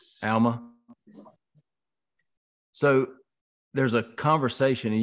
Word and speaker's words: Alma: if you look at Alma 11 is it is that how you say it Alma it's Alma Elma so there's a conversation